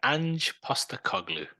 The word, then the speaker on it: Ange Postecoglou: Ange Postecoglou.